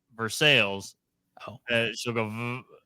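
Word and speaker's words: Versailles: from the town of here we go guys veres in North Central Kentucky I know it should be Versa but in Kentucky it's pronounced ver you say it wrong with the rest of us it's for sales and it's Lille no that's the correct way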